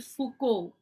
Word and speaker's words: Foucault: It should be pronounced as Michel Foucault. He was a French historian. Okay, he was a French historian. It is Michel, not Michael, and it is not Foucault, it is Foucault. Okay, it's a French name, so you should pronounce it like that.